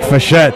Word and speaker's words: Frechette: the lounges ouch Mike Frechette just he won't forget that way up 25-foot drop down on low tide that's a disadvantage for low tide Mike's name is pronounced for jet but it's spelled forget